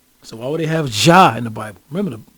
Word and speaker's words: Jah: Now, we all know Jah is supposed to pronounce a little different than that. It's supposed to be pronounced like Yah with a Y. Remember the natives? Yahweh, Yah, Yah, Yah, Yah, Yah, Yah, Yahweh, not Jah, the letter J.